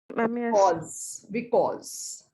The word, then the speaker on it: because: Okay, whenever a word starts from B, you have to join your lips. But, because. You can never say without joining your lips, the correct pronunciation will not come.